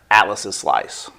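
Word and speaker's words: Atlas' Slice: So, with the apostrophe after the s, it's still pronounced atlas's slice.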